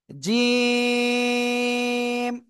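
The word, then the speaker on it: جيم: লাগিয়ে আমরা উচ্চারণ করব জিম জিম তিন আলিফ টান হবে ঠিক আছে জিহ্বার মধ্যখান তার বরাবর উপরে তালুর সাথে লাগিয়ে আমরা তিন আলিফ টেনে উচ্চারণ করব জিম সবাই বারবার উচ্চারণ করেন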